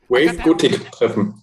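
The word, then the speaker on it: Wave-Gotik-Treffen: Wave Gotik Treffen.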